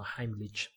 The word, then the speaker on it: Heimlich: Heimlich, the pronunciation, this is a German name probably, so Heimlich.